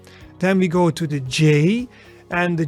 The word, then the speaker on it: ja: Then we go to the J, and the J in Dutch, for example, ja. Yi, the yi sound, ja, and ja means yes. So it is actually pronounced as in the English Y in yes.